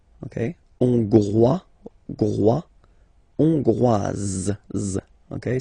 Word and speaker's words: Hongroise: Hongrois, Grois, Hongroise. Okay, so here final S not pronounced for the masculine form, and then you pronounce it here for the feminine form.